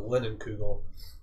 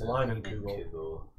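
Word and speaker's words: Leinenkugel: the bottle too because I always called it linen kugel it's line uncle Jason is like okay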